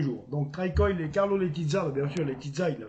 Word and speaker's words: Letica: Carlo Letizza, pas Letica, arrêtez avec Letica, Letizza. Letizza, c'est comme ça qu'on prononce en serbe.